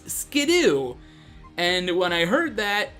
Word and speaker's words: Skiddo: of its pre evolution it's not skiddo its skiddoo and when I heard